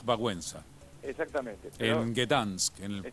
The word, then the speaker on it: Wałęsa: Yo sé que se pronuncia de otra manera, pero... Lech Wałęsa.